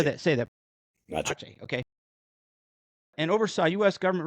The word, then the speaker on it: Aceh: Aceh, okay. And oversaw U.S. government response to the December 2004 Aceh tsunami and March 2005 Nias earthquake.